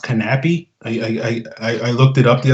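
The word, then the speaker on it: Knappe: Apparently, Andreas Knapp's name is pronounced Knappy. I looked it up the other day. So I've been getting that wrong all off season long. So I guess in Denmark they don't, the K is not silent or something.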